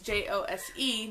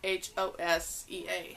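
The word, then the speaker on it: José: Like Jose is Jose, not Hosea or whatever.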